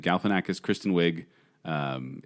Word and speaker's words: Galifianakis: September 30th I mean the movie stars Zach Galifianakis yeah Zach galifianak I can't even say his name Galifianakis Kristen Wiig um it's it it looked a